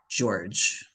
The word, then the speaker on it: George: Because it sounds like a J, but it's spelled George. George.